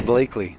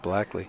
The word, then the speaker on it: Blakeley: So, it's Blakeley, not Blackly, which I did assume.